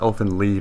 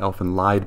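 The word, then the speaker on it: Elfen Lied: It's pronounced Elf Lead, not Elf and Lied, by the way.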